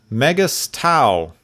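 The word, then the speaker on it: Megas-Tu: called the magics of mega stau vegas 2 yeah magus 2 megas tau depends on how you pronounce this there's no a in there so i i don't go with the a option myself there's a guy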